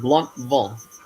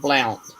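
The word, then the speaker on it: Blountville: Now it's called Bluntville, not Blunt.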